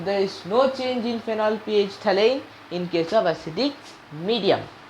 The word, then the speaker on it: phenolphthalein: ph thalane many of you say it is phenothelene it's fine but spelling should not go wrong